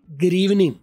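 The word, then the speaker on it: good evening: ना वो ग्रीवनिंग है, ग्रीवनिंग। क्योंकि उसमें गुड में जैसे उधर था डबल ओ साइलेंट कर दिया, डी आर में कर दिया, और इवनिंग का आखिरी जी साइलेंट कर दिया।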